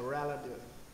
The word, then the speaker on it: relative: Mọi người đọc cái từ này là relative. Relative. Trọng âm mọi người có thể để là âm đờ đúng không? Trọng âm nhất này. Relative, âm tờ này nó biến thành âm đờ trong phim.